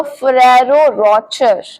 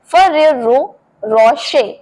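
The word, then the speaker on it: Ferrero Rocher: सो इसे बहुत सारे लोग बोलते हैं। इनफैक्ट मैं भी इसको यही बोलती हूं। फरारो रचर पर इसे सही तरीके से बोलते हैं फरेरो रशे तो रचर नहीं बोलना है रोशे बोलना है फरेरो रशे फरेरो रशे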